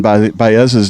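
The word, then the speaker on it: Báez: There's some little accent you have to say his name. It's one of those last names where it forces you to have some sort of accent.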